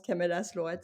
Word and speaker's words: Camellas Lloret: Moi, je le prononce Camélas Lorette, c'est parce que j'ai répété, ce que ce que Annie, m'a dit.